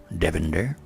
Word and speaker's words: Devinder: good afternoon my name is davinder i'll spell it out d-e-v-i-n-d-e-r devender now instead of using original sing i use